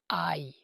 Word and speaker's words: Aï: Ils sont vaincus à Aï. La ville s'écrit A mais se prononce Aï.